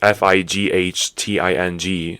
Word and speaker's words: fighting: you pronounce it but the GH is usually not pronounced at all so it's fighting or